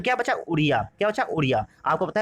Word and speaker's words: उड़िया: आपको उड़िया की स्पेलिंग भी पता है, ठीक है, आप लोग जानते होंगे उड़िया की स्पेलिंग क्या होती है, ODIA होती है, ठीक है। तो उड़िया, लेकिन प्रोनाउंसिएशन उड़िया होता है, ठीक है।